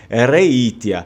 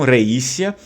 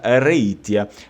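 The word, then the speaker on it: Reitia: por exemplo venete evanesia então lá eles acabam muitas vezes falando reinicia mas eu não acredito que os venenos pronunciassem o mesmo T do latim o mesmo som do latim então eu prefiro ficar com a pronúncia reitea mas enfim vamos se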